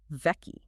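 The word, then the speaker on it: vaki: Vei. Vei. Can you spell that?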